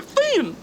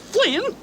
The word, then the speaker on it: Finn: He was Huckleberry Finn, not Flynn.